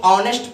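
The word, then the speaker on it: honest: इसको बताइए तो बहुत कॉमन क्वेश्चन है, आप लोग इसको ऑनेस्ट पढ़ते हैं, क्या पढ़ते हैं?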